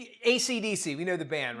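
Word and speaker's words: AC/DC: bolt in their logo ACDC is supposed to be pronounced one letter at a time but reported people in Australia kept on calling it akaaka no the Rockers are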